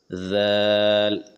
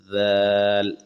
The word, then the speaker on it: ذال: ذال ذال. اس کو کیسے ادا کریں گے؟ زبان کی نوک تھوڑی سی اوپر کے سامنے کے دانتوں سے لگاتے ہوئے ذال ادا کریں گے.